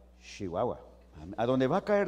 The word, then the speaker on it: Chihuahua: chihuahua church es igual hay que pronunciarlo correctamente no chihuahua chihuahua a dónde va a